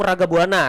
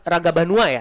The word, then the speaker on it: Ragabanua: Tadi kata saya Laung Ragabuana tapi yang benar Ragabanua ya. Iya, Raga Banua.